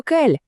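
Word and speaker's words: quel: Вимовляються вони всі абсолютно однаково. Просто кель.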